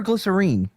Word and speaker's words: glycerine: Are we saying glycerin or glycerine? Well, in the song because they're British say glycerine and that's how they sing it in the song.